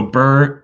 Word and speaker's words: BRRRR: what does it mean absolutely so bur uh b-r-r-r-r and so it stands